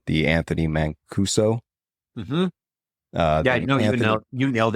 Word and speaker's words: Anthony Mancuso: bit out of Clark County, and I might mispronounce this name, the Anthony Mancuso.